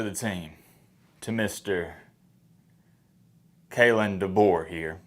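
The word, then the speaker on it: DeBoer: team to Mr kayn dbor here that's how you say it dor not de Boy de boy dor welcome to the team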